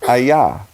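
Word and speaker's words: אַיָּה: 44 that's H 3 4 4 and it's pronounced hi-yah and they translate it as a hawk a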